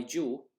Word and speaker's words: jo: for auld lang syne is not as my joy that is the proper word to use for